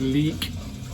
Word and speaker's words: Lik: I know it's not pronounced Lick in English. Leak.